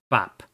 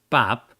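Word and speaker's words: Pap: king up here is a king bop so this is actually a tough one right from the get-go so king uh pop right he was king uh it's spelled p-a-p right so uh he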